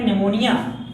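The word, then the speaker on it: pneumonia: कि इसकी बात करते-करते निमोनिया निमोनिया इस पीछे पी साइलेंट रहता फिर शुरू करते हैं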